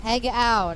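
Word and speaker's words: pegao: It's pronounced peg out.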